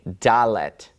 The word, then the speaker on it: dalet: You'd probably expect it to be some sort of a D sound, right? A, B, C, D. Well, sure enough, it is a Dalet.